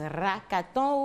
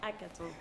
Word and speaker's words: hackathon: Déjà, comment on prononce hackathon ou hackathon ou hackathon? Hackathon. Voilà. Ok, merci. Merci de nous recevoir. Un plaisir. C'est hackathon, le H muet.